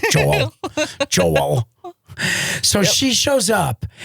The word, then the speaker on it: Joel: And sometime and when I can always tell when she's like correcting me or mad at me cuz my name Joel becomes two syllables. Joel.